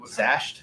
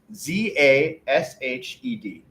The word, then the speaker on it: Zashed: It's like slashed, but they took out the SL mashed.